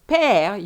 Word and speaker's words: père: of the word father, père, where you really open your mouth. So the first one is bébé, your mouth is almost closed, whilst père, you have to open it.